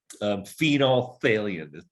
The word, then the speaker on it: phenolphthalein: Phenolphthalein is how we pronounce it.